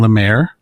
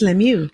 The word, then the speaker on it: Lemieux: I'm pretty sure I'd been saying it wrong all that time. I was saying Lemaire. It's Lemieux.